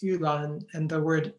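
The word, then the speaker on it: 玉兰: um a kind of Magnolia um which is pronounced Ulan in Chinese on the right is a crab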